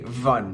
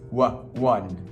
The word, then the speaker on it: one: And because the number 1 is pronounced with a W, one, lots of people tend to say vun. It's not v, it's one.